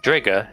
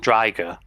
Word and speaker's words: Drigger: Drigger is supposed to be pronounced Driger because it rhymes with tiger, and Dracile is supposed to be pronounced Dracial, but they just changed it to Dracile.